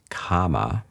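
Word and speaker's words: kamma: the mechanism by which kama, or as karma is the normal pronunciation these days, the Sanskrit pronunciation, karma, which is intentional, sort of emotion-based decision-making.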